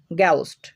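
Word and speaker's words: ghost: শব্দের শুরুতে জি এইচ থাকলে ক এর মত উচ্চারণ হয় যেমন গাউস্ট গাউস্ট মানে ভূত গেটও তো দেখো এখানে দুইটা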